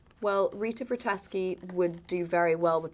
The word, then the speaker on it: Vrataski: It's pronounced Vrataski.